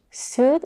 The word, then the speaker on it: suit: words sheep and Beach suit is pronounced with a high intense vowel ooh the same vowel that it's in the word smooth and soon so keep in mind